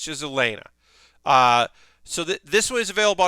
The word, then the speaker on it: Elaina: And it is while it is spelled like it should be Alania, everyone in the show calls her Elaine. So Elaina, I should say. Everyone calls her Elaina, like Elena instead of Elania.